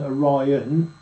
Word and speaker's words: Orion: The password of this degree is Orion, pronounced as a test by giving the long sound to I. You see? So the test of this one, instead of going Orion, yeah, it's Orion.